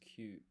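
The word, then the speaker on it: 九: So, nine is kyū. Pronounced kyū.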